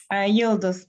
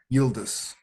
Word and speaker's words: Yıldız: How do we pronounce the name of this, Pinar? Yıldız Park. Yıldız.